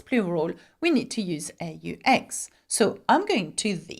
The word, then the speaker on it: aux: Though you don't pronounce it, not that it matters when you say it out loud, I suppose, whether you know it has an X or not, okay?